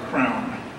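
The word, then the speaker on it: CRANN: Actually, we should pronounce it properly, Crown.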